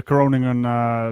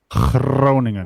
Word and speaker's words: Groningen: Groningen. When you gotta roll your R's and you gotta make weird noises with the G.